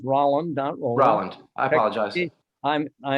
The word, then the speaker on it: Rolland: of things uh it it's pronounced rolling dot i apologize i'm